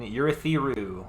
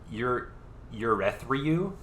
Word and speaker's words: Urithiru: We are now back in Urithiru, which Michael Kramer just once pronounced Urethriu, and it really threw me off.